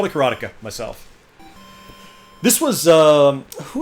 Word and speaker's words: Karateka: right there's Cara tika karateka I call the karateka myself this was uh who is that guy